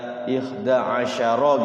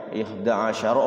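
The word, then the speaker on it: إحدى عشر: harakat atau lebih kayak ihda asyaro gitu kan Ya ihda asyaro rnya dipanjangkan ihdaasyaro gitu kan jadinya rubah makna juga sama kalau dibacanya tapi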